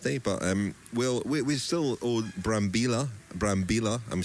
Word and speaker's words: Brambilla: There won't be one tomorrow, it's a rest day, but we still owe Brambilla, I'm saying his name correctly because we've been corrected today that we were not pronouncing his name correctly.